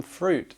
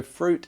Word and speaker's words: fruit: And on top of our yogurt, we might have some fruit. So fruit is pronounced with that long oo sound.